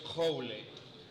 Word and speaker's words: Joule: Y los franceses, pues, lo pronuncian así, creo. Yo francés no sé, pero escrito es Joule.